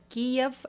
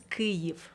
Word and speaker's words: Kyiv: Primero que nada, Kiev estás pronunciando en ruso. Ok, ¿cómo En sería? ucraniano es Kyiv.